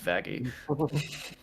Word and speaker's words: Vaggie: named you the best thing ever vagi it's pronounced vagi nope Adam is some of the best faes